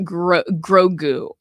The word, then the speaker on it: Grogu: It's pronounced Grogu.